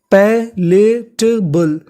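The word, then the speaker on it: palatable: बी एल ई पर अगर आपको इंग्लिश में कहीं पर बी एल ई लिखा मिले तो आपको बी एल ई को पढ़ना होता है बल तो पूरी मीनिंग हमारी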